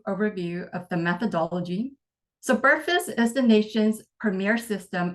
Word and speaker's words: BRFSS: the acronym for that is brfss and I pronounce it as burus so this was the data file that was